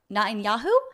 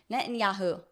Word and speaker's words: Netanyahu: she says um this is about Benjamin not Nan yahu how do you say that name Netanyahu nyaho it's kind of fun but like also